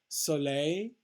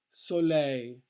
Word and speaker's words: soleil: show you the breakdown soleil again the stress on the last syllable pleasure utilize utilize means